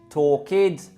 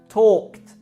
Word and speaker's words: talked: Can you hear the verbs, the id, the forced id sound on all those verbs? Stayed, danced, talked, appeared, played, when they should be pronounced stayed, talked, danced, played, appeared.